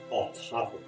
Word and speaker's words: autophagy: It sounds like autophagy when you spell it out, or it looks like autophagy, but it's autophagy. Autophagy. Think of it as two words.